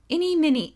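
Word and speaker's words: Ini Miney: in it but well now you know how to pronounce it any mini oh eeny meeny miny moe um at the college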